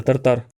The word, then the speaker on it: Тартар: Их имя произносится Тартар, как преисподняя.